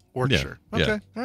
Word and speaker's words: Warwickshire: You know, I said, okay, well, we don't pronounce the second W, but apparently it's not Shire, it's Sure. Warwickshire.